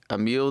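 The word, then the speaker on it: Emilie: noah fleece matt o'leary emil d ravine i think that's how you say her name it's emily or emil i think it's just emily okay fine it's emily emily t ravine i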